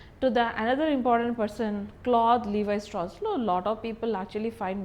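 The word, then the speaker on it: Claude Lévi-Strauss: He has to, this particular name has to be pronounced in this way only, Claude Levi-Strauss.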